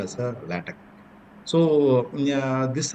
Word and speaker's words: LaTeX: once again repeat that not latex it's a lat or lat we can pronounce it